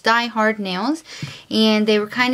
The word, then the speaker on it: DIY Hard: polishes in my previous video I called it DIY but it is pronounced Die Hard nails and they were kind enough to send